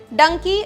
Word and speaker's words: डंकी: travel कहा जाता है डंकी असल में गधे डोंकी का ही उच्चारण है यह पंजाबी मुहावरे